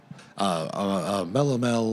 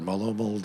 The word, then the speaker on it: melomel: Melomel or molomel, depending on who you ask.